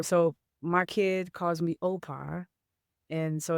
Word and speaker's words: O'pa: So my kid calls me Opa. And so it's spelled O apostrophe P-A, and it stands for other parent.